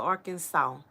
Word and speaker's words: Arkansas: Arkansas last s is silent. So Arkansas and I never be the same child.